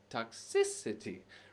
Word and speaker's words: toxicity: toxic city just kidding toxicity toxic toxicity remember anytime you have that itty as a suffix giving us a noun the syllable stress will follow on the syllable just before that serendipity yes all right